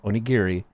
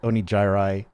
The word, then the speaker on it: onigiri: We all know it's pronounced Onigiri, but Neuro pronounced it Onijirai, and it just stuck.